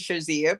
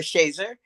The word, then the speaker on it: Shazier: Well, Mother Shazier, as we call her here, and some people pronounce it Shazier, but we call her Shazer.